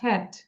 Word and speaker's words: cat: উচ্চারণটা হবে খ, cat.